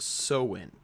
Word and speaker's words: Samhain: that looks like the word, it looks like Samhain, or Samhain. Sometimes the I is in front of the A, but it's actually pronounced Samhain.